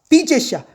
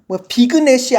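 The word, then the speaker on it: vignette: 이 과거분사로 쓰여서 애니메이션화된 이 발음이 재밌어. 보니까 비젯이야. 비그넷이 아니라 비젯이더라고.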